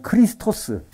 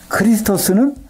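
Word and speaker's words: Χριστός: 어떻게 보면 영어식으로 하는 과거 분사 수동태 그래서 크리스토스 크리스토스 마시아 흐는 히브리어 크리스스 헬라어 그걸 우리는 그리스도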